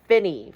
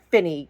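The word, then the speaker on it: Finis: And number 14, we got Finny from 2008. And yes, it is pronounced Finny.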